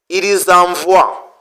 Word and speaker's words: ils envoient: Z n'est pas émué ça doit être prononcé ils envoi c'est comme ça nous